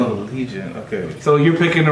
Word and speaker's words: Legion: Legion. Lee John of Doom. Is that how you say it? Because Lee John of Doom. That's not how you spell league. That's not how you spell league. Lee John of Doom. It's the Legion of Doom.